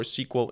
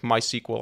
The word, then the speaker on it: SQL: I'm going to jump back and forth between the two pronunciations because both are correct. I like to usually call it SQL, but when I say something like MySQL, I like to say MySQL. Both are correct, so pronounce it however you like.